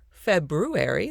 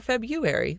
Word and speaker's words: February: you can pronounce it february the way it's spelled or february the way most people say it i am like most